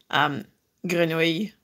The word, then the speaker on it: Grenouille: Grenouille. Grenouille. Grenouille is how you pronounce it.